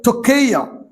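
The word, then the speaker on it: πτωχεία: दूसरा जो शब्द है टकेया पी टी ओ सी एच ई आई ए P silent है टकेया तोके का मतलब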